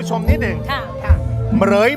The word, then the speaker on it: เหมรฺย: จะ รู้ ใช่ เหรย อย่า อ่าน ว่า เหม รุย นะ ครับ เหรย เหรย มี ทั้ง หมด ด้วย